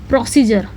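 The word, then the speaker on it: procedure: आर ई लिखा जाएगा डी य आरई पढ़ा जाएगा जर प्रोसीजर प्रोसीजर मतलब होता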